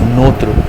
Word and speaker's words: notre: Here it is notre, o and u, nous, right?